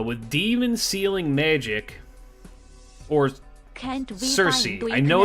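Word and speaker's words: Circe: Or Cersei. I know it's pronounced Kiruke.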